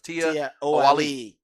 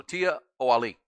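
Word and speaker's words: Tiaoalii: looked at the yeah the pause is after the Tia so it's Tia Ali and that kind of role so Tia o Ali TI Ali sea if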